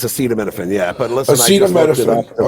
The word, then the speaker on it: acetaminophen: should menophen acetaminophen acetaphetamine right isn't how you say it acetaphetamine it's acetaminophen yeah yeah so